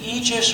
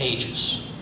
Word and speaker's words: Aegis: Is it Aegis or is it Aegis?